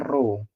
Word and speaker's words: rho: kamu harus cari eh ini namanya rho bacanya row berarti yang yang yang kemarin tuh yang benar rho * g * h gitu itu.